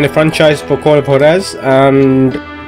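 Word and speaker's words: Juárez: of hores um Gunslinger I know it's spelled KZ because someone who actually knows uh Spanish corrected me on this I actually used to call it call of Jo and actually it's horz or hores as we jokingly said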